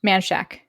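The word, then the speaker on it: Manchaca: all right and sure if you are from Austin you know it's pronounced manshack that was we're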